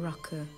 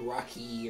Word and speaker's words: rucka: Sitting around here in the evenings, sipping rucka. And singing. That is not how I would have pronounced it as like Rocky or something.